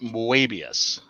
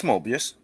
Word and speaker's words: Moebius: a while back because i thought that you would pronounce the e more in english you just pronounce it the same way oh okay so in